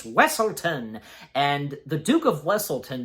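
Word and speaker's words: Weselton: of wlon they called weaselton but yeah Duke the Duke of wlon corrects them you know saying it's wesselton and the Duke of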